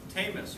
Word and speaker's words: Tamas: speech uh by Megan tamus rhymes with famous that'll always stick in